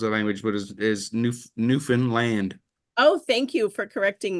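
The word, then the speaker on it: Newfoundland: to correct people's language but is is new Newen land oh thank you for correcting me yeah so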